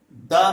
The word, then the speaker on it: the: बन जाता है ना, तो उसी कंडीशन में हम द में बड़ी ई की मात्रा मतलब दी का यूज करने वाले हैं। लेकिन ऐसी कंडीशन सिर्फ 1% होती हैं, बाकी 99% कंडीशंस में द और छोटी दी का यूज होता है। आई होप कि प्रोनाउंसिएशन इसका कब द करना है कॉन्सोनेंट साउंड आने पर, कब दी करना है